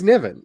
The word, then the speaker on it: Nevin: Rather than just going, is it Nimhan? And I don't want to anglicize it because it's really easy to anglicize. His name is it's Nevin. It's Nevin.